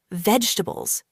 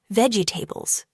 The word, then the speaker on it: vegetables: A lot of people say it like this, vegetables, slowly and with every syllable. But in natural English, we often say it faster and smoother. Vegetables. Only 3 sounds.